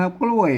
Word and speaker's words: กล้วย: ภาษา ไทย น่ะ เปิ้น ภาษา ไทย เปิ้น อ่าน ว่า กล้วย นะ ครับ เสียง โทร ปกติ นะ ครับ แม่ มา อ่าน ภาษา ล้านนา น่ะ มัน จะ ต้อง ออก เสียง นี่ เห็น มะ อ่า เมื่อ บ่ พอ ตัว นี้ แล้ว อ่าน ว่า กล้วย เสี่ยง โทร พิเศษ นะ ครับ โทร เมือง นะ ครับ อ่า มัน จะ มัน